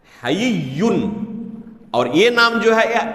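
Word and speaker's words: حيّ: اس کے بعد یا مشدد ہے تشدید کے ساتھ، حیّن۔ اور یہ نام جو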